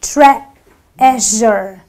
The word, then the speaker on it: treasure: a sound so I say treaure the E is silent in this word so I say treasure Tre it's not treasure you know it would